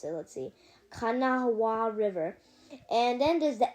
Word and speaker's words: Kanawha: And Charleston sits on the river called the Kanawha River, and there's also another river that Charleston stops by, and this river is called the Elk River.